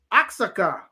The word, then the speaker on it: Oaxaca: said yes i said how do you pronounce this word and uh i showed her the cheese she said aksaka and i was like thank you i walked away and i'm like that still doesn't sound right right yeah they had